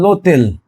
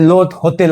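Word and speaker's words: l'hôtel: যেমন এই লং, লং এই মানুষ বা পুরুষ, তারপর লোতেল এই আপস্থপি এইচ ও টি ই এল, এখানে লোতেল, এখানে কিন্তু লো, এখানে লো হোটেল আছে, কিন্তু লো হোটেল, লো হোটেল, এটাকে এটাকে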